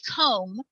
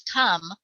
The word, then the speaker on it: come: the o say oh it should say comb like home but it doesn't it says come like thumb or dumb which are also